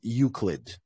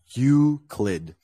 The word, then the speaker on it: Euclid: pneumatic pneumatic uh and this is pronounced as Euclid just uclid how did they say